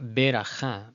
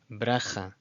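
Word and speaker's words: ברכה: Okay, so it's not beracha, beracha. Just imagine it as bracha, bracha.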